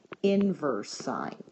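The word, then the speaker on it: sin⁻¹: of sign is called inverse sign this is pronounced inverse sign not sign to the ne first Power it's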